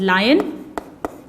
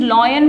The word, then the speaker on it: lion: और फिर जंगल का राजा, दैट इज लायन। इसे कई स्टूडेंट्स लॉयन बोलते हैं। This is actually pronounced as लायन।